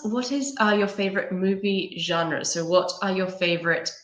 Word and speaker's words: genre: it's its height Bristol's this work is a French word which we have borrowed in English okay so you can use a French pronunciation okay genre history of the Android